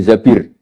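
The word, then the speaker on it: زبير: Kemudian saya nikah sama Abdurrahman bin Zabir. Di hadis ini bukan bacanya bukan Zubair, tapi Zabir.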